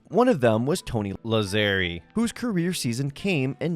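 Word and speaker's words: Lazzeri: the segment I realized I got Tony lazer's name wrong I was pronouncing it lazeri I felt it was deeply disrespectful to the Italian Community and while I couldn't go back and re-record every time I said Tony laerie instead of lazeri I just dubbed it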